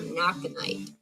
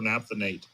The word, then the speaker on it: naphthenate: With a protecting agent called copper naphthenite. I think I'm pronouncing that right. Naphthenite. It's funny that different regions pronounce things differently. So we would call that copper naphthenate.